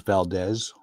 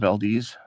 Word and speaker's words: Valdez: What was funny was that my dad was very impressed when people pronounced it correctly after that, because everybody thought it was Valdez initially. Okay, instead of Valdez.